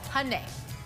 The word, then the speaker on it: Hyundai: Hyundai. Yep, Hyundai. The most difficult one for me to pronounce.